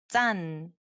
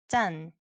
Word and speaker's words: 짠: So it has the 짠, 짠.